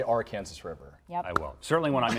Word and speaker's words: Arkansas: in this state yes I'm gonna go with Arkansas now nationally I'll say Arkansas I appeal to the masses there's no age table from now on you'll say Arkansas River yeah certainly when